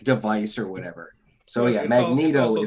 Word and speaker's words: Magneto: or whatever so yeah magneto that whole vowel consonant vowel that means the first vowel is long and um i know